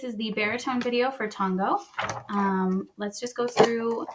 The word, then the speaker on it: Tongo: Let's pronounce it. Please repeat after me. Tongo.